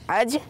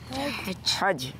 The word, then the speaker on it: हज: जी हज इसकी सही प्रोनाउंसिएशन है, हज नहीं है बल्कि क्या है? हज।